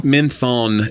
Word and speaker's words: Menthon: Spelled like menthol? Menthon, like with an N.